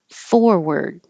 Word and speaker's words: forward: we Bob for apples forward this looks like a r sounds like e r forward we've stopped making